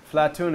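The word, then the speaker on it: أفلاطون: the the Arab philosophers they used to call Plato flaton IL flaton is how you say say Plato and is like uh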